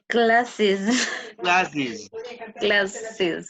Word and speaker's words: classes: s um glasses so are you adding an extra syllable yes okay so how do you pronounce it yes okay so how do you pronounce it classes classes classes all right